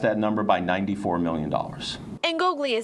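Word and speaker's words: Ingoglia: Ngoglia is how you pronounce it. Angola? Ngoglia.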